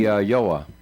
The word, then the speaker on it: Iao: Uh, it's spelled IAO. Anyway, oh, that would be Yoa.